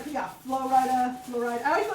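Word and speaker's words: Flo Rida: Well, it's Florida. Like you can say it at the same time. It's two equal stresses. Florida, Florida.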